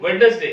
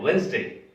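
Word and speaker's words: Wednesday: लोग बोल देते हैं वेडनेसडे है। वेडनेसडे मतलब बुधवार, लेकिन वेडनेसडे नहीं होता है। वेडनेसडे का जो प्रोनाउंसिएशन है वो है वेंसडे। वेंसडे, नॉट वेडनेसडे, वेंसडे।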